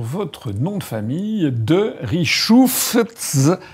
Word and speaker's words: Richoufftz: Alors ça s'écrit 2FTZ. Et donc la première chose que j'ai demandé au général, c'est comment on fait pour prononcer. Donc en fait, il paraît qu'il ne faut pas prononcer le TZ, c'est ça? Parce que le TZ a été rajouté au cours de l'histoire, on ne sait pas pourquoi. Ah mais bon? Initialement, c'était 2F. De voilà. Richouf.